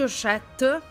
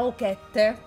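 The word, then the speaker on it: Ochette: ha richiesto di scegliere, penso si pronunci Oshette, non credo sia Okette, si è scritto Okette, però credo si pronunci Oshette, nel caso lo scopriremo.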